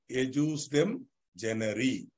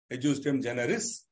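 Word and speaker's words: ejusdem generis: Means the rule of ejus dem generi. Pronouncing it in the way I am pronouncing it. If you still feel like I don't want to pronounce it that way, ejus dem generis, no problem.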